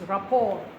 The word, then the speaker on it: rapport: a French word because these French guys they don't ex don't ex pronounce their whole words it's raport you can hear it must be French um we had that